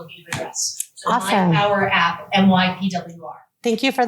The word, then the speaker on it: MYPWR: It's called My Power. Power is spelled PWR, so MYPWR app.